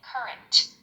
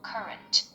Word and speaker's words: current: Ah, essa palavra se pronuncia current. A sílaba tônica é a primeira e o R é bem suave, então fica algo como current.